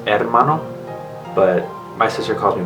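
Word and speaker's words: hermano: Mano which is brother you're supposed to It's pronounced Ed Mano but my sister calls me Mano for short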